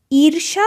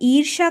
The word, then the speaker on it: ईर्ष्या: ये र की मात्रा जब भी आता है तो इस वर्ण के पहले हम एक र का प्रोनाउंसिएशन करते हैं, र का उच्चारण करते हैं।